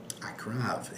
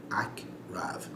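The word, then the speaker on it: עקרב: Akrav, exactly. You're going to have to know this word. Ayin, Kuf, Resh, Bet. Akrav.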